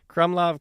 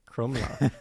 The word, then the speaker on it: Krumlov: And then now we're getting on to the Krumlov Castle in Czech. So they have the bear moat, which it's not really clear when. Close. Okay, how do you pronounce it? Krumlov.